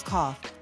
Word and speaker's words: coughed: In coughed, the letters GH work together to make an F sound.